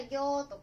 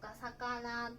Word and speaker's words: 魚: Như chúng ta đã nghiên cứu, "魚" được đọc là "gyo", "sakana" hoặc "uo."